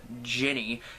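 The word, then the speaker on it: Djinni: Next, we're on to the fifth segment, which is called I Dream of a Jenny, and Jenny spelled like D-J-I-N-N-I, so as in Jin, as in genie, and it's actually about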